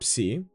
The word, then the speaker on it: Psi: Psi, the same example. P, S, P, S, Ps. Theta is a little bit more tricky if you're not used to it.